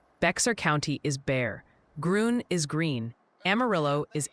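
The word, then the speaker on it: Bexar: is Lano, Humble is Umble, Beexer County is Bear, Grun is Green, Amarillo is Amarillo, but is but Marathon is Marathon.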